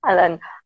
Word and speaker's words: Alen: ellen uh how i pronounce your name alain yes allen of not available in the english so it's with the c but it's pronounced i see alan um can you tell us that some friends